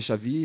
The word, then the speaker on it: Chavi: Donc voilà, mon nom c'est Chavi, ça s'écrit C-H-A-V-I.